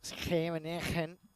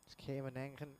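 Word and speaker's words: Scheveningen: Schemenegen, of course, I tried to pronounce it the Dutch way. Strong G's down they have them.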